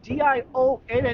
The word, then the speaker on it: Dionne: D I O N E. It's pronounced Dion.